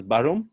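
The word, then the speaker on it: Bærum: for before the adt is that pronounced as baron did i get that right yeah yeah that's correct that's great yeah i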